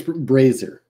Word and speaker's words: brazier: not English that's Greek it's spelled Brazier but it's pronounced it's it's brazer Fraser he's got the